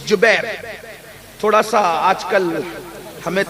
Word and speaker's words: جبیر: کو عبداللہ ابن جبیر، زبیر نہیں بلکہ جبیر، جیم سے جبیر، تھوڑا سا آج کل